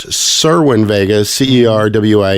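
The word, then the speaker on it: Cerwin: on the radio and we always call it Sherwin Vegas so I'm covering both bases so just as just so every every forum post I was seeing was like no it's pronounced Cerwyn yeah and I'm sure we're probably I'm sure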